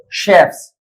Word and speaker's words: chef: zarafa believe believes Chef chefs C chef chef here C just pronounce as Chef like machine proof proofs handkerchief handkerchiefs